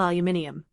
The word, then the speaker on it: aluminium: for us to sell aluminium which by the way is pronounced Alum not whatever the hell Americans say and let's be real